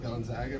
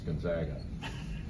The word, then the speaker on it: Gonzaga: public service announcement for the right way to pronounce Gonzaga. That there's been a national issue of it being called Gonzaga, and I think it's pretty easily remedied. I mean, if it were Gonzaga, they'd be the Zogs, and they're the Zags.